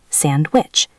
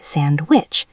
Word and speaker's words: sandwich: The letter D also disappears when it is sandwiched between consonants. Think of the word sandwich. Actually, sandwich.